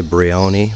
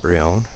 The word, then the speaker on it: Brion: Locals say Brion, but Elio, who just showed us through, called it Brion.